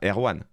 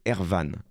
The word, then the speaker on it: Erwan: Son vrai prénom, c'est pas Erwan. Son vrai prénom, c'est Ervan. Alors, ça s'écrit pareil, mais ça se prononce Ervan.